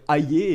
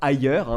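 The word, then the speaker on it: Hayer: Il faut prononcer d'ailleurs Ayé et pas ailleurs, même si comme tous les macronistes, elle semble parfois un peu ailleurs.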